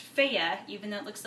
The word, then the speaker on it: Fage: Greek yogurt especially by this brand which is pronounced fea even though it looks like phage it's not phage it doesn't really taste like